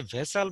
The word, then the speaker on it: vassal: তাহলে এই যে শব্দটা আমরা দেখতে পাচ্ছি ভেসাল, এর উচ্চারণটা হচ্ছে ভেসাল, VASSAL।